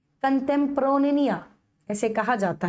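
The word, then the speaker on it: contemporanea: कंटेम्प्रोनिया ऐसे कहा जाता है उसको।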